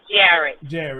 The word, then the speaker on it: Jarrod: His name is Jarrod.